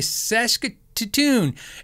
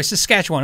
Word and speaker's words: Saskatchewan: want to trigger him i say saskatoon and so you know i'm not mispronouncing it well i am but it's from the adam sandler movie grownups right when a guy said that weird like that so anyway saskatchewan i'm